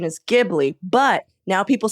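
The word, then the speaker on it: Ghibli: people say studio gibli and people say studio jibli so the correct pronunciation is gibli but now people say heard JBL listen listen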